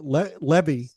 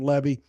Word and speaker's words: Levy: He helped me out when I had Jane Levy on. It rhymes with heavy, according to her.